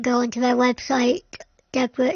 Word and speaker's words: DEBRA: Deborah is spelled D E B R A if anybody wants to have a look.